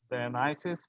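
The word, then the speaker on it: Dionysius: And eventually what happened, the after that, Dionysus, that's the right pronunciation.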